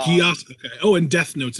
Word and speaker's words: Geass: Is Death it Note, Geass or Gias? Because I don't know how to Geass, pronounce it. Geass. It is Um, Gias.